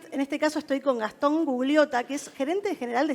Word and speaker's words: Gastón Gugliotta: En este caso estoy con Gastón Gugliotta, que es gerente general de Streamby. Así es. ¿Lo pronuncia bien?